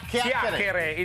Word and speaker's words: chiacchiere: It's such a big word, Chiacchiere.